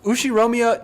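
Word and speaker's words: Ushiromiya: is one of my cousins his name is pronounced ushi romia George or Georgie if you're pronouncing it Japanese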